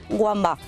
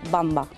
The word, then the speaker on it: Wamba: eso mucha gente dice wamba pero la w germana se pronuncia como la b sería bamba es en el mismo